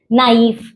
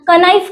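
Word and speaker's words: knife: ये ऐसे ये वर्ड्स में उसके बाद के साइलेंट वाले बहुत वर्ड्स हैं। नाइफ, night. ओके? के एन आई एफ ई तो कनाइफ करते हैं लोग उसको।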